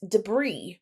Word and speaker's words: debris: word debris is pronounced debris where the S is silent and it is the